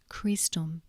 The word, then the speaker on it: Christum: CH is pronounced K as in chemist, for example, Christum.